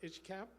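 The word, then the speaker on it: ICHCAP: Heritage Center and uh itch cap is that how we pronounce it itch cap okay and director General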